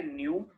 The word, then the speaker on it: nu: Wave number is represented by न्यू बार। ये जो symbol है जो टेढ़ा वी बना हुआ है इसको न्यू प्रोनाउंस करते हैं, न्यू।